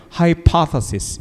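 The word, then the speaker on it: hypothesis: 영혼의 저그 줘 예 강세가 두번째 핵 음절의 있구요 하이 파파스 이렇게 있습니다 발음 좋아요 그죠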